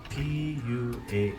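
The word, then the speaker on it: puaa: cooking a pig pig in Hawaiian is PU p u a a Pua now what we did early this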